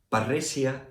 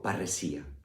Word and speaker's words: Parresia: Parresia es la pronunciación castellana derivada del latín del término griego parresía.